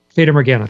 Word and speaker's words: Fata Morgana: How do you pronounce it? What, the Fata Morgana? Fata Morgana, thank you.